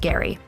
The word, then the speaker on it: Gerry: never heard of elbridge gary yes it's pronounced gary elected to the continental